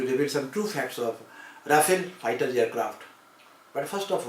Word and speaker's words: Rafale: The short Rafale, French pronunciation Rafale, literally meaning gust of wind